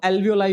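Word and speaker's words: alveoli: अभी आगे ये लंग्स तक पहुंचेगा और आखिरी जो स्ट्रक्चर इसका होगा वो एल्वियोलाई होगा या एल्वियोली होगा, दोनों प्रोनाउंसिएशन ठीक है, आप एल्वियोलाई कहें ज्यादा अच्छा लगता है ना?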